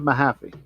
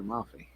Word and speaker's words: Mahaffey: The Wild Man of Mahaffey. Or Maffey, I'm sorry, Maffey.